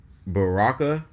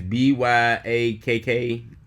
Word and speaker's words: Byakko: Now, the next two episodes is about Baraka, if I'm correct. The white tiger, if I said his name right. I think that's how you pronounce it. It's Byakko. Oh, Byaku. Byaku.